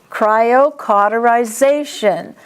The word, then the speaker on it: cryocauterization: And it's caw, not cauterize, it's caw. Cryocauterization. Cryptorchism.